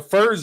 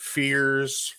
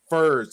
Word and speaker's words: Furs: which I'm actually so Furs is right. You said it right, and it looks simple enough. FERS, Yeah. but I've had people pronounce it fears, fires. I mean, all kinds of shit. That doesn't Everything but even what it sounds like. right. Listen, I'm like literally how it's spelled. Furs, and they're like, oh, okay.